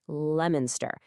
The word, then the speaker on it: Leominster: Nope. It's Lemonster. The O just decides not to show up for work.